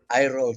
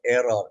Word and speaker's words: Irol: Irol Torres, according to him. It's spelled I-R-O-L, not Errol, E-R-R-O-L.